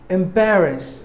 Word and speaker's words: embarrass: your characteristics word number four embarrass embarrass it is a verb M Bearer us there are three syllables in this word and we have distressed a second syllable bear should be given more volume embarrass meaning uneasy feelings